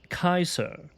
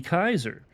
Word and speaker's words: Caesar: And Caesar, Julius Caesar would be Ulius Kaiser. Ulus Kaiser. Okay, that's where that's where the word Kaiser comes from. Kaiser. And actually the pronounce the Latin ancient Latin pronunciation would be Kaiser.